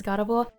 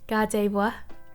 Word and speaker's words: Gardevoir: in on sure gardevoir so i'm pronouncing this completely wrong um my australian accent just says god of war i think the actual pronunciation is gardevoir i think i'm trying